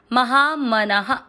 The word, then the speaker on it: महामनः: आ की मात्रा इसलिए विसर्ग को पढ़ना है हा, महामनः।